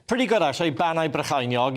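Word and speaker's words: Bannau Brycheiniog: Banau Brychinog. You're pretty good, but need to work on the Brychinog.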